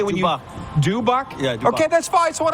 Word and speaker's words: Dubuc: I was like, oh, Dubuc's team's playing.